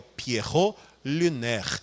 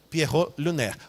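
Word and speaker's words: Pierrot lunaire: composição que é o Pierro luner se escreve assim mesmo p i e r r o t l e l u n a i r e Pierro luner vale a pena conferir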